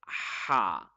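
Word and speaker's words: ح: Ha, ha, ha. Yeah, very easy. Ha is read from the middle throat. It should be read with force. It should be as sharp as a sword.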